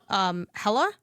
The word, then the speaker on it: Hela: Okay, I think for what I didn't have before GDC, Hella. Yep. It's spelled Hela.